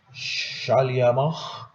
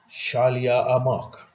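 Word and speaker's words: Schleiermacher: In French, I'm sorry, in German, it is like this: Shaliamach, and in English it is Shaliamak.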